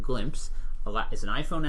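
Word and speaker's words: Glympse: really send them something so this product called glimpse a lot is an iPhone app Android windows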